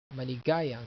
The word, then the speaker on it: maligayang: Another one is best wishes, maligayang bati. Or you can say this and there's a birthday, maligayang bati. Or best wishes, maligayang bati. Maligayang, maligayang, maligayang. The accent is here, maligayang.